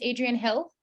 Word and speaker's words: Adrian Hill: Adrian um so Adrian is your name pronounced Adrian Hill yes Adrian who yep and